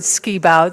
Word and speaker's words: Shebout: We do pronounce it Skibout, so I'll say I'm Skibout, though there are other Shebouts around.